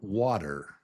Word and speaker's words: water: water It's two syllables. water water water water water So the first syllable is wa wa It's up here. wa stressed And then the second syllable is der It's not even a t t It's really kind of a d d d, but